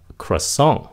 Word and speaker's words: croissant: Người Mỹ gọi nó là croissant.